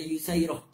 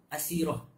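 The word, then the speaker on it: يسيرة: إمام نووي رواية كان dengan fihi ma isnadan, dengan sanad yang baik daripada Yusairah dengan isim tasdir. Nama, kata ulama, nama beliau Asirah tapi dibaca dengan isim tasdir Yusairah.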